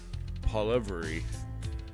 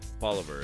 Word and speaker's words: Poilievre: Okay, we have about a 20 minutes of Pierre Poilievre Poilievre Poilievre is how it's pronounced.